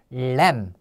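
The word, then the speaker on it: lamb: SH 자 죠 자 그다음에 램 요는 발음이 안 나는 거예요 과장된에 발음이라 그랬죠에 그래서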